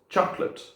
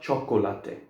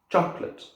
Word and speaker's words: chocolate: But we don't pronounce the O in this one either. So it goes chocolate, not chocolate. Chocolate.